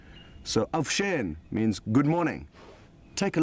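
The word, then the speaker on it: avuxeni: the same tribe, is avusheni, spelled A-V-U-X-E-N-I. So the X's are pronounced as sh. So avshen means good morning.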